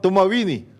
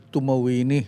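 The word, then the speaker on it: Tumauini: po yung ah Ano to How do you pronounce it tuma wini tuma wini Ang hirap tum H hindi hindi tuma tum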